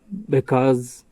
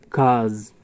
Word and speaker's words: because: thing because is pronounced because or cause. Listen and repeat. Cuz I w to Cuz I w to Cuz we don't.